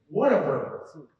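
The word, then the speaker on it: Whataburger: heard of it but it's spelled w h a t a b u r g e r it's all one word what of bir that's what it is so I essentially I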